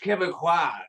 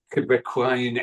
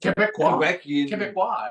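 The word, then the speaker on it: Québécois: people talking with a Quebecoian accent. Quebecoian? How do you say that? Quebecois, I suppose.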